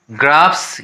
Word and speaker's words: graphs: Clips, ROOFS roofs, GRAPHS ग्राफ्स। यहाँ PH का भी प्रोनाउंसिएशन फ होता है, तो इसीलिए ग्राफ्स हो गया।